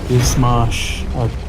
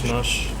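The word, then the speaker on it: Izhmash: I'm lucky I got my Ismash. Is that how you pronounce it? Ismash? Ishmash.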